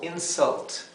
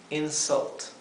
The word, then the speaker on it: insult: inglés se traduciría como insult insult insult otra vez la u se pronuncia entre una a y una e insult del mismo modo la